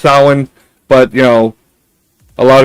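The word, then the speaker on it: Samhain: I know it's pronounced Sin, but you know, a lot of people think it's Samine.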